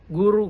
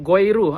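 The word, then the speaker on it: Goeroe: Contoh Soekarno bacanya Soekarno. Guru goiru atau bacanya guru. Di mana vokal U ditulis dengan dwi huruf O E.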